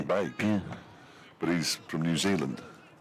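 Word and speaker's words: van Beek: Logan Vanek here and that's how he pronounces his name so therefore that's how his name should be pronounced bake but he's from New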